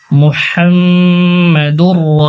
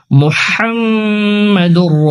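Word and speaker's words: محمد: লা ইলাহা ইল্লাল্লাহ, ইল্লাল্লাহু মুহাম্মাদুর রাসূলুল্লাহ। মুহাম্মাদুর, এখানে হা রয়েছে, বড় হা, যেটা গলায় একটু চাপ দিয়ে উচ্চারণ করতে হয়।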